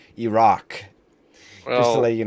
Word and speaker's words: Iraq: I mean, technically, just to be politically correct here, you pronounce it Iraq.